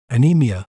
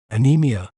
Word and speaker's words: anemia: better understand its meaning and pronunciation we may pronounce it as anemia anemia a NE Mia anemia anemia is crucial in